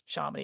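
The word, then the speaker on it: Shamini: Charminy rhymes with Harmony.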